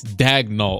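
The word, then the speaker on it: Daigneault: say his name and I heard Sam pressy saying it's diagonal that's it like it's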